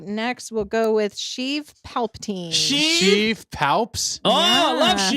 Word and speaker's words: Sheev: Which one sounds like a Kinda Sheev? rhymes with Steve.